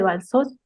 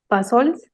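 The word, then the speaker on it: Bassols: Nos dice, ¿cómo fue la iniciativa de Balsos? Bueno, lo pronuncié mal, Balsols, para la Paso al creación paso.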